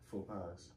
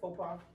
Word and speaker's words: faux pas: Faux pies. Okay. Faux pies? No. DJ, you said it right. Faux pas.